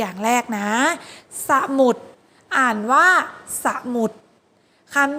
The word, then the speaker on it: สมุด: แรก ตัว อย่าง แรก นะ สมุด อ่าน ว่า สมุด คัน ที่ 2 ขนุน อ่าน ว่า ขนุน คำ